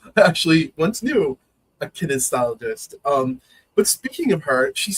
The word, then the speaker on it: kinesiologist: I'm saying kinesthesiologist, but I think I'm adding a syllable in there.